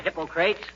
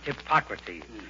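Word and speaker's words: Hippocrates: McGee hello McGee hi hypocrates if you are referring to the father of medicine McGee it's pronounced hypocrates and if I wasn't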